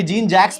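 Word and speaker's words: Jean-Jacques: Rousseau जे ई एन जीन जैक्यूस यानी जीन जैक्स बोलते हैं इसको और रूसो रूसो की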